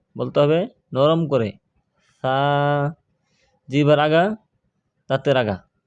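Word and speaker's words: ث: সা বলা যাবে না, সা বলা যাবে না, বলতে হবে নরম করে সা। জিহ্বার আগা, দাঁতের আগা, জিহ্বার আগা উপরে দুই দাঁতের আগার সঙ্গে লাগিয়ে সা।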